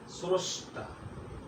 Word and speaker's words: স্রষ্টা: যেমন বন্ধুরা একটু লক্ষ্য করো, 1 নম্বর, শব্দের প্রথমে রফলা থাকলে অকারের উচ্চারণ ও এর মতো হয়। যেমন তুমি লক্ষ্য করো, এখানে একটা উদাহরণ আছে, স্রষ্টা।